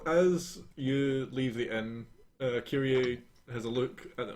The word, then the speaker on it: Kyrie: Yeah, and me and Kyrie, how do you actually pronounce it? Kyrie. Kyrie.